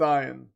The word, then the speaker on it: Ian: It's pronounced Ian.